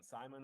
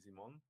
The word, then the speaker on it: Simon: thanks for having me my name is um Simon or Simon like people ask me like what's the real pronunciation and my mom calls me Simon because I'm from Switzerland um born raised in cich